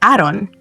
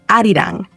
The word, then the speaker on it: Arirang: No es Aaron, es arirang.